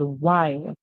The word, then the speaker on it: while: word in this word while so in this world while the W makes the sound W the H is silent the W make the